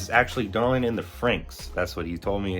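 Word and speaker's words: Franxx: I was saying Darling in the Fran, and this is actually Darling in the Franks. That's what he told me it's pronounced.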